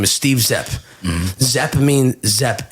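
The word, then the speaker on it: Szep: Zepp is spelled S-Z-E-P, I believe. It means beautiful in Hungarian.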